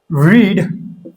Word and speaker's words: read: ना, रीड रेड रीड, रीड रेड रीड, सिर्फ ये प्रोनाउंसिएशन मतलब बोलने में इसकी थोड़ी सी जो है ना टोन बदल जाती है, बाकी स्पेलिंग एक ही रहती है।